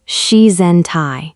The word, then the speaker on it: shizen tai: It is called shizen tai, pronounced shizen tai.